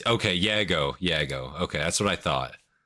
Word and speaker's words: Yago: Like, how do you pronounce it? You know? Yeah, it's okay. Yago.